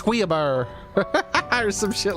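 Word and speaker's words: Louis Guiabern: Guillabern, all right. Now listen to how he says it. Hold up. Ah, won't let me play it. Ah, he says Guillabern or some shit like that.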